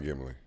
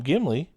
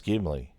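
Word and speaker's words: Gimli: It's not Gimy. It's not Gimly. They call him Gimy.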